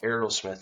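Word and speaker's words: Arrowsmith: I grew up in a small town called Aerosmith, Illinois. Yes, not like the band, like everyone in the world says.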